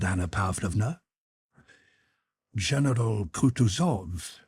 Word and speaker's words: Kutuzov: said Anna pava General kutuzov said bonsky speaking French and stressing the last syllable of the general's name like a Frenchman has been pleased to